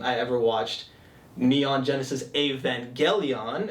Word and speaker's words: Evangelion: the second time I ever watched Neon Genesis Evangelion it's is the correct way to pronounce it I know i' upset you um